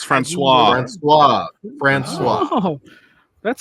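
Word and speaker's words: François: Franciosis? That's Francois.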